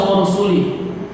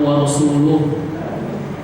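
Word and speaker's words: وَرَسُولُهُ: Ya, dari mana kau baca wa rasuli? Yang benar wa rasuluh.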